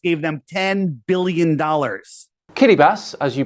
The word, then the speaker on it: Kiribati: island China just gave them 10 billion dollars Kitty bass as you pronounce it is made up of over 30